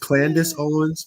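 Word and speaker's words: Candace Owens: right there yeah Urban housing it's uh it's pronounced Candis Owens just just in case you let's see what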